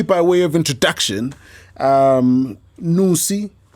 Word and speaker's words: Nnusi: think just purely by way of introduction um nusi pronounce it properly yep beautiful nusikaz is a young